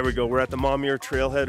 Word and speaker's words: Momyer: say this place I always say this wrong mommy er there we go we're at the mommy er trailhead right now yeah Matt and I we're